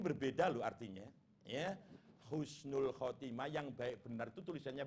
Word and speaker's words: khotimah: Husnul khotimah. Jangan pakai ha. Nanti maknanya sudah gak sama itu ya.